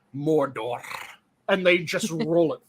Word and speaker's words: Mordor: of mordor mordor um i keep on hearing the weird pronunciation that they've done since the new bits have come out where they really hit those r's like they owe them goddamn money and it keeps on being mordor and they just roll